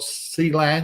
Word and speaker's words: Clang: After Richard Hatherall, we've got C-Lang or Clang, depending on how you want to pronounce it. I've heard it both ways.